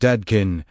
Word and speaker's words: Dadkein: The invitation of Dadkein, pronounced Dadkein, meaning pure, transparent, cleansed of distortion, is not to reject the world, but to cleanse the lens through which we experience it.